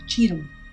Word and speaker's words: Tioram: castle ghetto today I'm at Castle tum tum is pronounced Chum which means dry castle and has a few